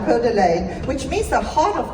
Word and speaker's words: Coeur d'Alene: I said it right, Coeur d'Alene, which means the heart of the owl, if anybody didn't know that.